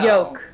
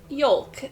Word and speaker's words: yolk: Because I pronounce it yolk, and I pronounce it folk, and I pronounce it walk, and talk, and I always pronounce the L.